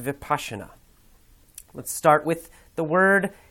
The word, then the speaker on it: Vipassana: It's pronounced Vipassana.